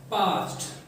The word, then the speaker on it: parched: पास्ट, ये है पास्ट। यहाँ पे R जो है वो साइलेंट होता है, PARCHED, पास्ट।